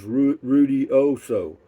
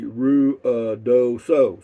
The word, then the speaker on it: Ruidoso: In Lubbock, my friends used to pronounce Ruidoso as Ruidioso. Yeah, but it's actually Ruidoso.